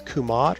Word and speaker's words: Kemet: Historians pronounce that as Kemet, but again, we don't know the vowels, so it could have been pronounced as Kumat or something else.